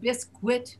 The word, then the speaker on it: biscuit: The word biscuit is, even though it should be pronounced biscuit because it has a U in it, we don't pronounce the U there. We say biscuit, as if there's no U.